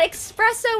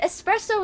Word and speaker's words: espresso: at me because i i pronounce the s in proxo no i used to say the s expressive russian you say excited yeah that's but expresso was the word espresso is the word i was trying to